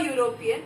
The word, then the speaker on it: European: We say that it's an Indian, an American, an Australian, but here it becomes a European again because it's going to go. U is getting Y pronunciation, just like union.